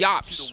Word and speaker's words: UOP: See, it's spelled weird. It's spelled U. It's pronounced weird, but it's spelled UOP. Right here, Yop.